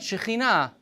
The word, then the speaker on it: Shekhinah: That's right, Shekhinah. You know what's really interesting? You know what's really, really interesting about the word Shekhinah? It's feminine. God's presence is feminine, not masculine. Shekhinah is feminine.